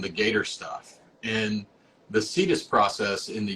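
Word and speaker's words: CITES: it's just kind of the general pronounced cetus spelled c-i-t-e-s um So for anybody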